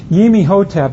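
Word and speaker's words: Imhotep: next slide please uh yimi hotap is how the books tell you're supposed to pronounce it but the movie says imotep and we'll all go with the movie he's the first to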